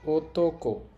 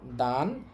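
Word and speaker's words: 男: এই কাঞ্জিটার কুনিয়মী বা জাপানি উচ্চারণ হবে ওতক। পতক এবং অনিয়মী বা চীনা উচ্চারণ হবে দান অথবা নান দুইটাই হইতে পারে।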